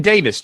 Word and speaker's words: Davies: something which is Davis blog okay that's DAV IES you pronounce it Davis to you I do